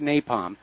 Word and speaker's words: napalm: excruciatingly ly torturous death okay it's pronounced napalm okay and actually white phosphorus